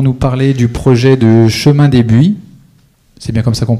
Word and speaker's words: Chemin des Buis: Ils vont nous parler du projet de Chemin des Buis, c'est bien comme ça qu'on prononce.